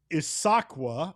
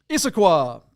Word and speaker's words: Issaquah: JP, a 2006 BMW X5 4.8 IS that is listed out of Issaquah, Washington. Did I say it right? Issaquah. Put the emphasis on the incorrect syllable. I do that all the time. Issaquah.